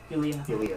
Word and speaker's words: Yulia: Yulia is how I pronounce it.